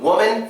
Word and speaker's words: woman: When we say woman, we're actually putting stress on the O. And it's kind of like a hard O sound.